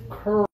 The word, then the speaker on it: curl: this one is curl for this one you need to have your lips forward and open curl okay everyone I want you to open your lips but push them forward curl and keep them open not ooh yeah give it a try